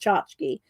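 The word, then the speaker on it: tchotchke: Chachk, but it's pronounced chachki.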